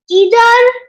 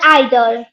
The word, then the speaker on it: either: They are either or either. There are two pronunciation. One is American and one is like American and British. Yeah, British. So either. Both pronunciation is correct.